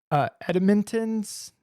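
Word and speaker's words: Entenmann's: You ever have like a edintens? Is that how you say it? Like from the grocery store? Like a Danish? Oh, Entimmans. Yes. Entimmans. That's what it is.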